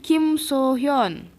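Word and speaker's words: Kim So-hyun: Kalau ini emang pakai U, jadi bacanya Kim Suhyun. 이렇게 Suhyun. Ya, paham ya? Jelas nih, Kim Suhyun, SU, makanya di nama internasionalnya SOO. Kalau ini Kim So Hyun, S-O.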